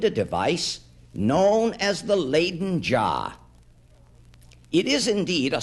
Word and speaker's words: Leiden: the sea to the village of laden in holland sometimes pronounced leiden in the university there